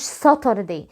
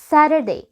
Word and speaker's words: Saturday: زي ما انت سامع كده، ما اسمهوش Saturday، اسمه Saturday. Saturday. ليه؟ ببساطة في الامريكان انجلش التي لما بتيجي في النص between two vowels، يعني في النص بين حرفين متحركين، بننطقها دي خفيفة شوية، فزي ما انت سامع كده اسمها Saturday. Saturday. Saturday.